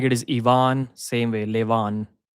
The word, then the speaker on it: Ivan: It's always a double A. Ivan.